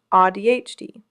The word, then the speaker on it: AuDHD: The community developed a term for this, AuDHD, pronounced AuDHD, describing the lived experience of having both autism and ADHD.